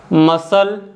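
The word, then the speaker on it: muscle: after the letter yes अगर letter सी सस के बाद आता है तो सी को हम नहीं बोल बोते जैसे कि मसल Saint scenario science discipline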